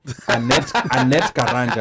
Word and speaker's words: Annette Karanja: My name is Annette Karanja. You can find me as classy_Annette on Slow Instagram. down. Annette Karanja. Yes. Annette Karanja. Let me pronounce it in the Kenyan way. Annette Karanja, because there's some people here.